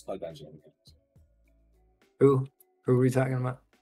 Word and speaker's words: Qui-Gon Jinn: It's Qui-Gon Jinn. Who are we talking about? Obi-Wan's master. Qui-Gon. Yeah. Did I say it right, Qui-Gon Jinn?